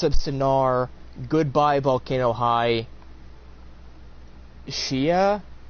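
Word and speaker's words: Tchia: Sinar goodbye Volcano High Shia I think the T might be silent t c h i a uh ter uh Teran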